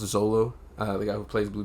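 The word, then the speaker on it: Xolo: The acting, I believe his name is pronounced Zolo, the guy who plays Blue Beetle.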